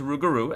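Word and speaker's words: rougarou: Uh yes, the official pronunciation is Rugaroo as the game itself suggest uh stated.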